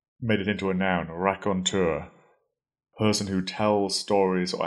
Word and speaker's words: raconteur: word Ron and made it into a noun rakontur person who tells stories or anecdotes in a